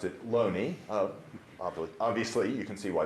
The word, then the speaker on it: Looney: about this man's name notice it's spelled with two o's so it could be pronounced looney my understanding is the family pronounced it lonely obviously you can see